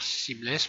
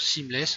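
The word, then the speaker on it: seamless: anglais c'est une texture qu'on appelle une texture simless moi je l'ai appelé sans raccord parce que je fais tout en français mais ça s'appelle aussi une texture simless alors simless ça s'écrit s e a M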